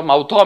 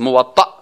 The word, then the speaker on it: موطأ: بعضیا موطا میگن و چی میگن و غلط است. موطأ همین قسم تلفظ درستش.